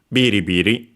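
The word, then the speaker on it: ビリ: Being anomtopia, well, it should be accented on the first syllable and it is in this case. There are some exceptions, but that usually is the rule. Biri, we could add the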